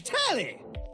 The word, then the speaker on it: Telly: The name's Telly. Rhymes with Nelly, like, whoa, Nelly!